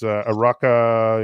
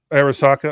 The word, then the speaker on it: Arisaka: of the school it's araka Academy is that right arisaka okay arisaka I knew I was gonna